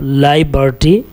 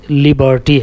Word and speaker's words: liberty: کر دی تھی، اور وہاں پر میں اسٹیچو آف لائبرٹی بولا تھا اور کہا تھا، جو کہ غلط تلفظ ہے. صحیح تلفظ لیبرٹی ہے، تو وہاں پر اسٹیچو آف لیبرٹی ہونا چاہیے تھا، جسے میں نے لائبرٹی بول دیا تھا.